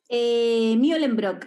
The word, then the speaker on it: Mühlenbrock: Como tiene las comillitas en la U, sí, sí. Debe ser como un Mew.